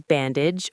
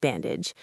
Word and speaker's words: bandage: For bandage, don't emphasize the age like the word for how old you are. It's a short sound.